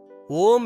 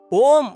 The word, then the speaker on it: ஓம்: ஓம் அப்படின்னு சொல்லும்போது அ, உ, இம் என்ற மூணு எழுத்துக்களை உச்சரிக்கணும்.